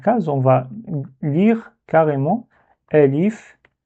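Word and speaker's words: ألف: Donc on va dire Elif.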